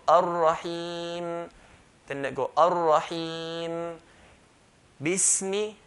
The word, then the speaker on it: Bismi: Bismi, B, clear kasra, B. Bis, hold the sin. Bismi, no, bismi, no. Bismi, mim, clear mim with a kasra, so clear kasra. Bismi.